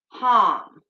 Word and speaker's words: ham: the throat chakra is harm so it's spelled h-a-m like ham but it's with a long a so um that